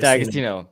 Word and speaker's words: D'Agostino: D'Agostino.